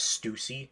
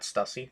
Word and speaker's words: Stussy: Apparently they say her name's Stussy, not Stussy.